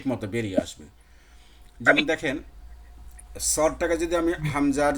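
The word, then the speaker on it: ص: মানে জিহবাটাকে একটু ওই যে দুই সাইড বললাম উঁচু করবেন, আর মাঝখানটা ডাউন। সদ, মনে হয় যে একটু গোল গোল ভাব হবে, এরকম হবে, সদ।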